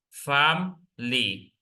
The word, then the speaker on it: family: me family family family the letter i is not pronounced because that is a vowel or a silence vowel famly family the word family looks like it has three syllable fam but at the moment of pronouncing this you say firly only two syllables in the pronunciation family